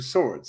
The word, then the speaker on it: Sowards: It is actually pronounced like two swords. So Swords, like plural of sword.